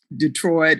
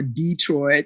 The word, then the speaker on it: Detroit: So I thought everyone kind of used, these expressions, these idioms, these different pronunciations of Detroit or Detroit, the emphasis on the E.